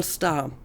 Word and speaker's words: star: Imagine you have like the symbol star. And the consonant root in this case would be S, T, and R. I'm going to ignore the fact that you don't really pronounce the R, but let's assume that